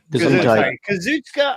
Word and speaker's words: Kazuchika: Kazuchika Ohkada is all elite.